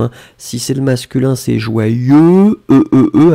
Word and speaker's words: joyeux: Joyeux, joyeux, il est complexe. En général, beaucoup de personnes ont des difficultés à l'écrire. Regardez bien comment on l'écrit, hein. Donc c'est vraiment J-O-Y-E-U-X. Joyeux, joyeux, joyeux.